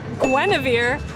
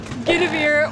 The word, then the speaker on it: Guinevere: It's pronounced Gwennavir, not Gavir or Reverse or whatever.